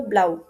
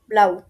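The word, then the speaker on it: blau: তো ব্লুর মতো হলেও উচ্চারণটা করতে হবে ব্লাউ, ব্লাউ, নীল, ব্লাউ।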